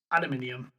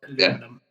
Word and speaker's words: aluminium: It's aluminium, not aluminum. Yeah. There's an extra I in there. There is an extra I. And you have to pronounce it more to the point.